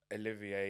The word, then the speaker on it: Olivier: Um, is it Olivier? Olivia.